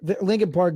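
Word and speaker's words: Linkin Park: and rock stuff like Abraham Lincoln. What are you saying? Lincoln Park. Yeah. They spell it L I N K I N.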